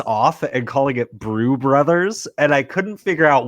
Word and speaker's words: Brews Brothers: being like Rich Eisen is mispronouncing the name of the show he's calling it brew brother Bruce brothers it's obviously brew brothers and I found myself